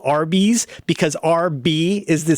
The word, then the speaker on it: Arby's: be mhm roast beef RB is how you pronounce the letters r and the letter B yes yes yes so